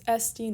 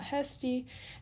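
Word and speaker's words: ἐστί: smooth breathing again because it's sd not hesty and then an accent an acute on your final yoda and then in the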